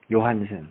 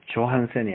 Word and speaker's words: Johannsen: 요한센, 답은 요한센. GENE 요한센, GENE 요한센. 영어로 JOHANNSEN, 요한센. 독일어는 J자 발음이 요자 발음이 나요. 그래서 조한센이 아니고 요한센이에요.